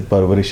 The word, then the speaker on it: परवरिश: वैसे PARVISH परवरिश, ऐसे परवरिश, हाँ, PARVARISH नहीं यार, स्पेलिंग परवरिश, हाँ स्पेलिंग ठीक, PARVARISH परवरिश, हाँ हूँ ठीक बोल रहा तू।